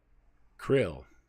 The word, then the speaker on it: KRLL: he died in captivity Krill here we go or krll or crl c-l-l-l-l or pronounced Krill Krill was the hostage